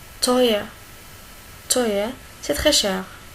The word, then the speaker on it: teuer: E, ou. Il se prononce comme oi. Oi. Oi. Teuer. Teuer.